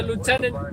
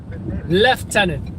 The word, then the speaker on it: lieutenant: the bathroom and i also think british say lieutenant lieutenant lieutenant which is strange to me because there's no f in lieutenant it's l-i-e-u-t-e-n-a-n-t not l-e-f-t and e-n-t i don't know